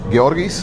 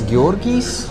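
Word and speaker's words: Georgijs: pronounce my name because my name is Gorg Gorgis. Like so it's has the JS at the end which is really difficult for a lot of people to pronounce. Gorgis. Yes. So you're not Gorgi. You Gorgis. Yes. S is very important.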